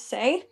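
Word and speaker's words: Sae: I don't know why people Oh yeah, you guys also say his name like say like Sai's name is say Yeah.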